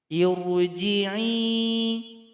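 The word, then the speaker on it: ٱرْجِعِي: Perhatikan huruf ketiga, harokatnya kasroh. Berarti di sini hamzah wasal i bunyinya. Karena pilihannya cuma dua, i atau u. Berarti di sini i. Irji'i.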